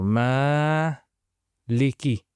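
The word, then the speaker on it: مَالِكِ: So m leaky.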